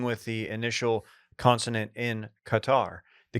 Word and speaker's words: Qatar: Dylan, you might be thinking, why are people pronouncing Qatar as Qatar? The Arabic language, particularly the colloquial dialect common in the Arabian Peninsula, features several sounds that are completely alien to native English speakers, beginning with the initial consonant in Qatar.